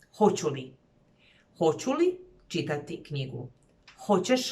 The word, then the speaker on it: hoću li: I want to remind you that even though the interrogative particle and the auxiliary verb are two words, you would pronounce them as one word. Hoću li.